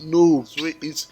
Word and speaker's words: Nob: However, the pronunciation is nob. It's, even though in English it's spelled nob, N-O-B, it's actually pronounced nobi.